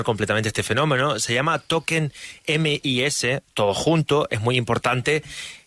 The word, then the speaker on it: tokenMYs: con mayúscula y s con minúscula todo junto toquen mys qué tal Juan Pedro Cómo estás lo dicho Todo bien toquen maíz la pronunciación correcta es pero bueno creo que es